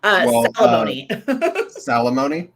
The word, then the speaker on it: Salamone: and i lose it salamoni yeah rhymes with alimony well that was our